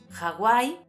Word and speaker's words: Hawái: Aunque en español la "h" no se pronuncie, en algunas palabras procedentes de otros idiomas es habitual pronunciarla como una "j" aspirada. Algunos ejemplos son "hámster", "hándicap", "Hawái" o "Sáhara".